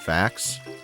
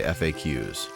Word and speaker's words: FAQ: Berry nectar bubbler if you pluralize is FAQ would you still pronounce it facts no I would say FAQs I would only say